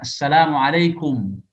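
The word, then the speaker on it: السلام عليكم: Seharusnya kan assalamualaikum, kum dengan memonyongkan bibir, ya, kum.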